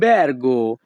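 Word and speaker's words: albergo: অর্থ ভাতরুম হোটেল লাল ব্যারগো এখানে বি আর এর উচ্চারণ হবে ব্যার ইতালিয়ান ভাষা লাল ব্যারগো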